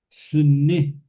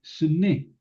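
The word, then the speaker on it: סנה: Miren, la zarza es sne. Sn. Aquí está con artículo jasne, pero es sne.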